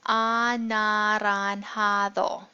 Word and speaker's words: anaranjado: So orange, of course, is anaranjado, and in Spanish we pronounce all of the vowel sounds, so it's anaranjado.